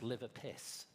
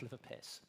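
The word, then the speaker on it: LIVRPS: Now, the good news for you is this is pronounced liver piss.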